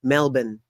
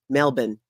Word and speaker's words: Melbourne: I can say it Melbourne Melbourne y'all been emailing me telling me it's melbour melbour that sounds weird saying I don't know anyways that's what you guys are telling me how it's pronounced cool though right I